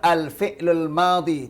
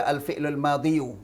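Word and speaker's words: الفعل الماضي: Kalau pakai level al-fi'lul madi, tidak boleh baca al-fi'lul madiyu. Ya, karena itu thiqal, berat, maka tidak dikasih harakat dan tidak dibaca.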